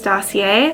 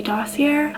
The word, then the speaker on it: Dossier: beginning of this video which is dossier I believe that's how you pronounce it maybe dass here I'm gonna say dossier for this video umm what this brand